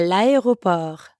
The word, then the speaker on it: l'aéroport: À l'aéroport. Yes, à l'aéroport. Notice again how le and aéroport are connected in l'aéroport. That's because aéroport starts with a vowel.